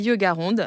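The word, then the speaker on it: Yogaronde: si vous voulez pratiquer yoga ronde c'est facile comme ça se prononce tout attaché merci beaucoup à bientôt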